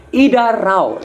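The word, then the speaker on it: इधर आओ: Idarao, ditulisnya idar spasi ao, tapi dibacanya idarao.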